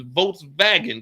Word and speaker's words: Volkswagen: But if you want to say it like you over here in Germany, it's Volkswagen because there ain't no W's, it's all V's over here. Volkswagen.